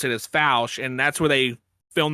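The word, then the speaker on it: Fouke: it through fou Arkansas it's not it's not spelled like foul it's just spelled FAL yeah and but you the way they pronounce it is fou and that's where they film that movie Legend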